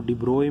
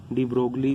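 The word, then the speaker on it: de Broglie: इसको लिखा डी ब्रोगली ही जाता है, तो लेकिन इसको प्रोनाउंसिएशन में है वो डिब्रोय में बोल देते हैं, ठीक है।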